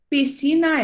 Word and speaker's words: piscina: Porque o S e o C da piscina formam um dígrafo, tá certo? Um som, apenas um som.